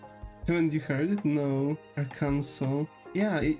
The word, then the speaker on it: Arkansas: A lot of Mexican people I talk to call it ar Kansas. Yeah. Like that's the thing, right? But actual the actual pronunciation of of that state is Aranso.